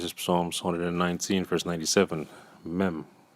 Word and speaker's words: Mem: This is Psalms 119, verse 97, Mem, which I believe in Hebrew is pronounced as Mum.